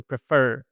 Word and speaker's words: prefer: So the word prefer it has the stress on the second syllable right? So prefer right.